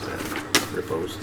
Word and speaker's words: riposte: Repost, yeah.